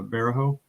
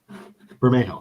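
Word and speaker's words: Bermejo: more like the joker comic from lee uh varajo yeah burma i can never pronounce that burmejo that's it yep you got it hey we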